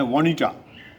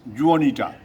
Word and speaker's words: Juanita: उसी प्रकार हमारी एक मित्र हैं अमेरिका की, उनका नाम है वानिटा, वानिटा, तो स्पेलिंग है JUANITA। इंडिया में आए तो उन लोगों ने कहा कि मिस जुआनीटा।